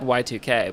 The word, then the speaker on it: YIIK: Because it kind of just became like I mean, we're aware that it's spelled with two I's. Like, yeah. Yeah. It's on purpose, you know. It's said Y2K, but a big part